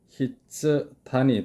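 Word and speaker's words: 筆談: 필담이라는 단어입니다. 일본어 발음은 히츠단이 되겠죠.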